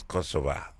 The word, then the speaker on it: Kosova: and they came and the way they pronounce the name of their country is Kosova and rather than Kosovo I thought was possible so and